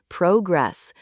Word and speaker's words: progress: Track your progress, making sure the word progress has the stress on the first syllable, progress.